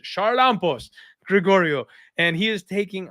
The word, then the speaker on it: Charalampos: I said it wrong by accident, everybody. I had Uncle Weezy teach me how to pronounce that correctly the last time I broke down his fight and then totally forgot to use it.